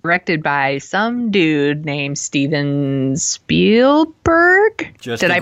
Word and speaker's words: Spielberg: Ernest Cline and directed by some dude named Steven Spielberg. Did I pronounce that right?